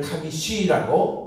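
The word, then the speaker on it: חמישי: 네 번째는 아르바인데 여기는 아르비라고 발음하고 여기는 카미샤인데 여기는 카미시라고 서수.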